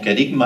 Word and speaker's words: kerygma: Esta palabra procedente de la voz griega, que no lo puedo pronunciar, pero bueno, dice que se pronuncia como kerygma, ¿no?